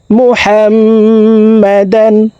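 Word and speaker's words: محمدا: মিমের সাথে তিন সেকেন্ড পরিমাণ গুন্নাহ করে পড়ব মুহাম্মাদান আবেদুসু আইনকে হলকের মধ্যখান থেকে উচ্চারণ করব আইন বাবর বাকলার হরফ নিচের দিকে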